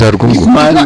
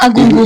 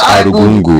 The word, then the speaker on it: Argungu: It's Arugungu. It's not Agungu. It's Arugungu. That means there's like a U there.